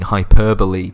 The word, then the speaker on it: hyperbole: may I also get some kudos for getting hyperbole pronounced correctly and in one go on rather proud